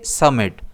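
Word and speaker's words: summit: इसे हम प्रोनाउंस करेंगे समिट। इसमें स्ट्रेस एस पर रहेगा।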